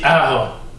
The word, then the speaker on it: Jara: Ça s'écrit Jara, mais ça se dit Jara.